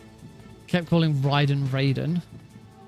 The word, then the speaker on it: Raiden: Like, how many how many times has he heard the name pronounced Ryden, but still thinks that it's supposed to be Raiden? I mean, I understand why he thinks that it should be pronounced Raiden because Raiden from Mortal Kombat is spelled the